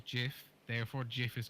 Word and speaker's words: GIF: the term because you don't like how it's pronounced yeah the guy who creates it gets inside the guy who created it said jiff therefore Jeff is correct over time and through